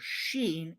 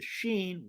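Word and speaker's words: ש: Hebrew this is a Hebrew character that has a sh sound like ship or shake or shadow in linguistics this is called a voiceless post veiler frickative and if the person was able to pronounce the shush sound they could go free however the pronunciation of the sheen was not static and for the people of Ephraim they pronounced the sheen like a sibilant s this makes Shake sound like sake they were not able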